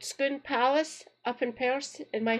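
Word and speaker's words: Scone Palace: gates that lead into Skoon Palace. They are delightful. Just put in Skoon Palace. Let the bait good same spelling pronounced differently. Remember that you eat a scone, you go to school.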